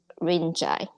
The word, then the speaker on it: Rinzai: Or if you have studied Japanese Zen, it's pronounced as Rinzai.